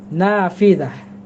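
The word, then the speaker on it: نافذة: নাফিদাহ, নাফিদাতুন, একটি জানালা। দেখেন আমাদের সমাজে অনেকের নাম থাকে, মেয়েদের নাম নাফিজা, এই সেই নাফিজা, যেটাকে আমরা নাফিদাহ থেকে নাফিজা বলে ফেলি, মানে বাঙালি উচ্চারণ এই আর কি, অর্থ হবে জানালা।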